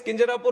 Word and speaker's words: Kinjarapu: And my name is Kinjarapu Ram Mohan Naidu.